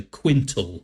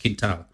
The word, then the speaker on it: quintal: spelling and fundo f-u-n-d-o d-d-e kintal q-u-i-n-t-a-l so quintile right but it's pronounced kintao and it means at the bottom of my